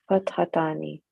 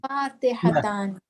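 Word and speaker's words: فاتحتان: Fathatani. And everything is converting in the tani. Fatihatan, not Fathatan.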